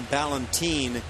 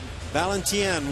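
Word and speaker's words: Valentín: out I I understand they've been calling him Valentine okay but uh valentien would be correct Spanish to my understanding Barnes right off the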